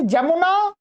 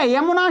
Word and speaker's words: यमुना: कैसे यहां पर जजमानस बोलते हैं वो लोग जजमानस गलत उच्चारण य तो य का उच्चारण होना चाहिए तो वही है हिंदी में बता रहे हैं जैसे जमुना जजमान ये क्या हो गया यमुना शब्द था यमुना को क्या कर दिया जमुना कर दिया ज कर दिया यजमान